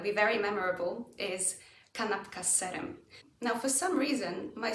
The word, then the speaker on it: z serem: The change in z almost makes it end up sounding like a double S. Kanapka z serem. Now, mind you, you do need to pronounce this extra S. Kanapka z serem? Yeah. Kanapka z serem. The S gets extended in a snake kind of way.